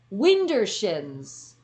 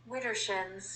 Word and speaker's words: Widdershins: What is Wintershins? And I think I finally got the correct pronunciation. Or Widershins. What the hell? The volume's up. Widdershins.